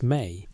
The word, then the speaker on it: me: The Sumerian term is me, pronounced may, which doesn't translate cleanly into English.